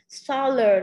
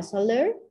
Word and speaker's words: solar: Solar nó là tính từ mà cái chữ khoa học của xanh đó, mặt trời ha. Vậy thì nó nhấn âm 1, không ai đọc là solar, nó là solar.